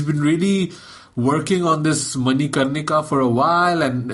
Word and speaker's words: Manikarnika: I think the only one that really came out was Manikarnika. Am I pronouncing that correctly?